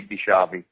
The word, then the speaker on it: DiSchiavi: it's just s-t-e-v-e and my last name is spelled d-i-s-c-h-i-a-vs Invicta I so it's Ashley bishabi uh and there's a picture of me in